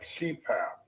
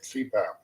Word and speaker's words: CPAP: of heart or cardiologist acronyms abbreviations made up of initials that can be pronounced as a word like cpath continuous positive airway pressure that's what it stands for they take the first letter of each word and make an acronym like CPAP we have a